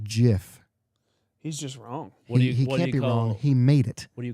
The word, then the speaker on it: GIF: it said it's pronounced Jif the guy that designed it and made the term even though the peanut butter is spelled with a J calls it Jiff what do you call